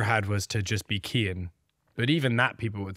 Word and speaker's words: Cian: The only thought that I ever had was to just be Cian. But even that people would still get wrong now that I realize. Because it's spelled C-I-A-N.